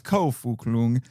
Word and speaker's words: Ko Fuk Lung: And just so you know, it's Ko Fuk Lung. And just so you know, his middle name is spelled F-U-K, and his last name is spelled L-U-N-G, like the internal organ in English.